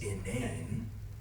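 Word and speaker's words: inane: for it is innan and for those of you that don't read I'm not mispronouncing insane it's innan his innan ideas of how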